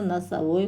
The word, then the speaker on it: носовой: Это, ребята, носовой платок. Произнесите вместе с учителем отгадку на русском и казахском языках, выделяя ударные гласные звуки. Носовой, ударение падает на О, платок, ударение падает на О.